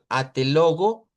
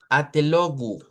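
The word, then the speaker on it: até logo: y diría, "Mire, aquí no es o porque si usted dice atelogo, no es el sonido adecuado con esta de aquí. Debería decir atelogu y aquí una u.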